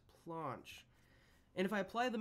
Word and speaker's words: planche: and I believe it's a French word pronounced planche and if I apply